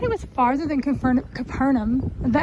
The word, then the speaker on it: Capernaum: was farther than confirm Capernaum but I think they do pronounce it confernum here for some reason but